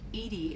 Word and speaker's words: EDI: why are you named edie edie is the phonetic pronunciation of that is an acronym